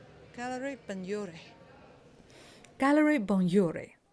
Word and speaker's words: Benlliure: The next stop and the last stop is Galleria Benlliure. Gallery Benlliure. Gallery Benlliure. It's hard to pronounce.